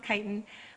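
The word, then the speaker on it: chitin: those grasses ourselves uh kiten it looks like chitan I know but it's pronounced kitan uh this is another form of a carbohydrate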